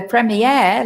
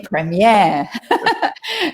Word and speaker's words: premiere: now yeah now the premiere like the genre both of those words come from french and we try in